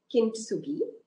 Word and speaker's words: kintsugi: about um and i know i'm going to pronounce it wrong um kintsugi um spot on namita in terms of pronunciation